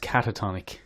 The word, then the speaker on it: catatonic: life Ledger was the one who's in the katatak State and then comes out of the katana